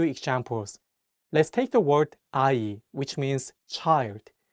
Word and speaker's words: 아이: Let's take the word 아이, which means child. In this word, the iung in each syllable works as a placeholder and only the vowels are pronounced.